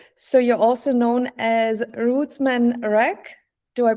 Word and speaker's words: Rootsman Rak: So you're also known as Rootsman Rak. Do I pronounce it correctly?